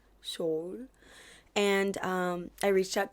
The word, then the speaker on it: Seoul: I'm trying to say it correctly because I've been saying it wrong. Um, so I'm back in Seoul. Soul.